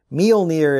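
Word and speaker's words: Mjölnir: there is of course an information plate here meal near is how i looked up the pronunciation of this norse word here and as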